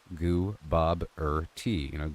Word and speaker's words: Gooboberti: Gooboberti. Goo as in goo goo, Bob as in the name, as in the question, T as in the drink with gem and bread.